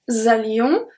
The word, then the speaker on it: allions: Then we have the two last ones, nous allions. As usual, the S at allion is not pronounced. And then we have the link, nous allions.